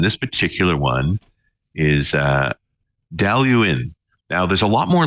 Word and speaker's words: Dailuaine: for that and this particular one is uh delu in now there's a lot more letters in the